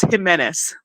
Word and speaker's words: Jimenez: It's Jimenez.